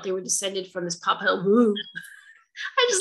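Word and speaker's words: Popol Vuh: And his name is, I had to look it up and say it correctly, Popalvu.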